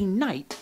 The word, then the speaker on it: knight: for instance if a knight knocked your knuckle or knifed your knee why would there be so many k's well the k's are silent by mistake the original old english